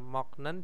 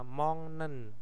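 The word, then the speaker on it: 먹는: Terus moknen dibaca apa? Mongnen.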